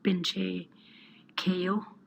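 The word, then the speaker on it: Binche Keyoh: I'm from a small community called Binche Ko, BINCHEKEYOH.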